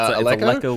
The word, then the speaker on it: Aleko: I'm not sure how to pronounce the name, sorry, but it's Aleko like Gecko.